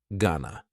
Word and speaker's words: gonna: As you can see, to is substituted with the schwa sound yet again, and the long O and ing are replaced with a short O sound, gonna.